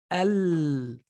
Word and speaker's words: القمر: But in this word, we say al-qamar. Al-qamar. Because this is the qaf is called a lunar, a qamari letter, and so you pronounce the lam.